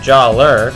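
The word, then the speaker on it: Jaller: uh don't complain that I'm saying Jala instead of Jer because yeah I know his name was originally Jala spelled j a l a but then it was changed to j a l l e r but I'm still saying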